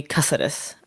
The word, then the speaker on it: Caceres: number one supporter of anthony caceres or as his name is supposed to be pronounced anthony cassidus um big fan love